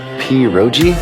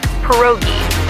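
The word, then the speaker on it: pierogi: Peroi. Did I pronounce that right? It's pronounced perogi.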